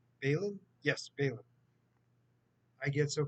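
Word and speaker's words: Baylan: Balin, is that how you say his name? Balin?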